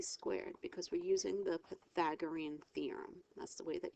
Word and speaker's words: Pythagorean: squared equals C squared because we're using the Pythagorean theorem that's the way that you pronounce it Pythagorean theorem 81 plus 81 equals C squared when